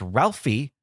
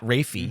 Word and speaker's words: Ralphie: Former child actor and MCU executive producer Peter Billingsley, best known for starring as Ralphie in A Christmas Story, not Rafie.